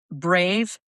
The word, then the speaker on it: brave: So, this word again, it helps to respell it as B re H. So, bre, you're going to keep it open on that and only close down to the e vowel at the very end.